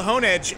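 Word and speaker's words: Honedge: sword sound like well the thing is called hone edge and and I meant can you do the voice well I know but I'm telling you it's called honah sirs pokemon express themselves by saying their name or syllables of their names just why Pikachu is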